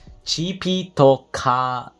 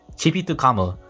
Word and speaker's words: Chipitokamu: Okay, so the Japanese pronunciation for this is Chipitokamu. Chipitokamu. Okay, Omniscience Dragon Chipitokamu.